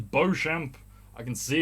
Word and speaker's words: Beauchamp: I say Beau because the word Beau is the name of the Birmingham City Football Club team mascot, Beau Brummie. It's spelt the same way Beauchamp is spelt.